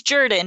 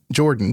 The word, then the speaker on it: Jordan: Well, um there was a very famous Clarence Jourdon Jordan, but it was said Jourdon in Carter's resi- Jimmy Carter's administration.